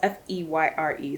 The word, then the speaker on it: Feyre: I'm gonna assume that that's how you say her name. They said it's 2 syllables and it's spelled F-E-Y-R-E. So I say Feyre.